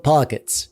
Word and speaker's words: Pocket S: This here is the Ayaneo Pockets. It's pronounced Pocket S.